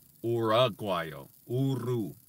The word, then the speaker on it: agua: but in Spanish it's rude while not or agua oh oh it's you are you and the use phonetic in Spanish so it's pronounced the same way every time it's not